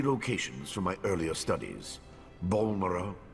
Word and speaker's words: Balmora: of these sites since I've been pronouncing these two wrong the entire time I was saying Bal Mora and Al run all right unless he's